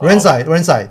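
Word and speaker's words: Rinzai: Well, I've heard it pronounced Renzai as well. Renzai.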